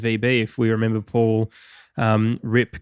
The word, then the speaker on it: Ripke: If we remember Paul, Rip, I think is how you pronounce his last name, RIPKE.